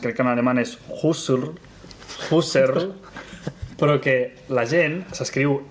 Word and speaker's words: Husserl: Ara ja no sé com es crec que en alemany és Husserl, però que la gent s'escriu H-U-S-T, la gent diu Husserl, com si fos anglès.